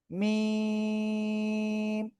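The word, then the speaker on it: م: করবেন, এই যে অক্ষরটা, এই অক্ষরটা দুই ঠোঁটের বাইরের অংশ শুকনো জায়গা থেকে উচ্চারিত হবে 4 আলিফ টানিয়া। কয় আলিফ? 4 আলিফ টানিয়া উচ্চারণ করতে হবে। মিম।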